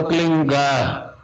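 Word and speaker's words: क्लीं: में फैले उस होता एक शब्द क्लीन शब्द क आधा ल में मिला हुआ बड़ी की मात्रा और बिंदी उसका उच्चारण होगा क्लिंग आप अंग बोलो ता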